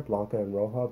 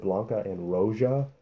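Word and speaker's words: Blanca & Roja: name right uh blanca eroja was on there blanca and rojo but he pronounced it blanca and rosia and my little cuban heart just about cried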